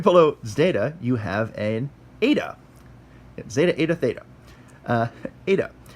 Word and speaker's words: eta: Right below zeta, you have an eta. Zeta, eta, theta. Eta. And eta is a long E sound, but it kind of sounds more like a long A sound. A, like that.